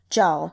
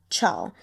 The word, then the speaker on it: Zhao: The author mentioned this in an author's note very early on, as well as clarifying the pronunciation was Zhao, not Chao.